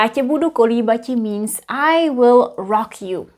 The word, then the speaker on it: kolíbati: Kolíbati is a more archaic version of this infinitive. Kolíbat. And because we needed 1 extra syllable here, it's convenient to use kolíbati and then kolíbat.